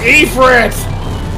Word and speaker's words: Ifrit: It's pronounced Ifrit!